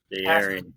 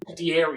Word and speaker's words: De'Aaron: De'Aaron. I told you how to pronounce it. De'Aaron. That's on me. You just added so many different syllables that you didn't need to.